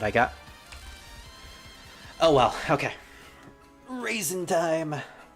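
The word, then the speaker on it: Reisen: you know Rey like half of the word is Rey literally Rey which is a Japanese word and people pronounce it as Ray so it's raisin but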